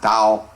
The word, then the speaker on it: Tao: doll the doll or Dao in English which pronounced Dao is the principle underlying all of the principles